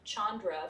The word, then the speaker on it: Chandra: the english spelling are actually phonetic where they're spelled like they sound chandra for example which is the pearl the moon